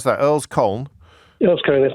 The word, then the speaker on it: Earl's Colne: Last word on this to Danny, who is in, how do I pronounce that? Earl's Colne. Earl's Colne, that's correct.